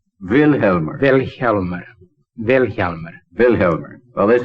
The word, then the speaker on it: Vilhjalmur: Vilhjalmur. The accent's on the first syllable. Vilhjalmur.